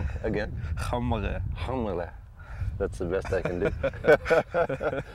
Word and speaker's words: Qaumariaq: Qaumariaq. Again? Qaumariaq.